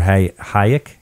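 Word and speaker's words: Hájek: The only guy with more is Lieber Hayek, right?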